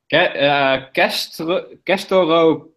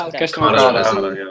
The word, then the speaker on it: Castorocauda: Castorocauda, I think is pronounced. Castrocauda. Yeah. That's Castorocauda.